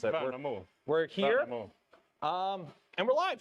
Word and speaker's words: Värnamo: You pronounce it. Värnamo.